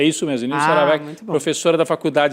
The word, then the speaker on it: Nilce Aravecchia: Essa Professora, é a pronúncia? é isso mesmo, Nilce Aravecchia, muito bom.